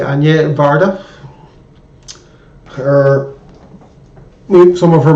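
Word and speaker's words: Agnès: pronounce this for me i will say anye some people say agnes but i would say anje varda her some of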